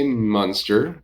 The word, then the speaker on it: Muenster: You have to say Muenster. You can say Muenster, M-U-N, or you can call it Muenster, like the big moon we had last night.